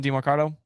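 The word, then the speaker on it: Demercado: Is that how you say his name? DeMarcado is. Yep.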